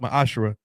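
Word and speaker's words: מעשר: It's pronounced ma'ashra.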